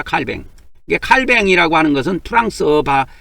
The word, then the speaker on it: 칼뱅: 이게 프랑스로 보면은이 사람이 프랑스 사람이기 때문에 프랑스에서 말을 할 때는 칼뱅이라고 합니다. 칼뱅.